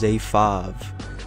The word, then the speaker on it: fyv: my name is 5 the fyv is pronounced five like the number five you feel me fyv